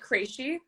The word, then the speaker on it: Cresci: right yeah it's um i pronounced that crazy okay okay good i